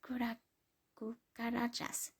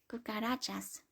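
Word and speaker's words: cucarachas: My house is infested with kura karajas and is being fumigated. Sorry. Dannon asked in confusion. What's that? It's pronounced kukarachas. Corrected in exasperation. And they're cockroaches.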